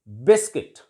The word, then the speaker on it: biscuit: For example, biscuit. It is not biscuit और बिस्किट. इट इज बिस्किट.